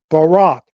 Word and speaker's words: Barak: In Hebrew, if you go to B-A-R-A-Q, Barak, how it's pronounced, that's a transliteration of Barak.